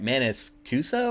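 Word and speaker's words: Maniscalco: I can't even ever say his name right Manis cuso or something um the funny part is that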